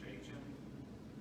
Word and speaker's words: Jachin: How do you pronounce the J word? Jachin? Jachin.